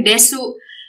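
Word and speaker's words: です: Nah, sama seperti desu. Ini desu juga banyak yang salah karena desu ini disebutnya pengucapannya hanyalah des.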